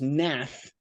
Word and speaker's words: Hnath: A guy named Lucas Nath, it's spelled Hnath.